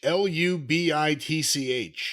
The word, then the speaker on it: Lubitsch: And by the way, it's spelled Lubitsch. Lubitch.